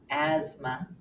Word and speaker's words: asthma: that fit the rule The Only Exception is in just a few words the th will be silent as in asthma or isthmus feel your throat as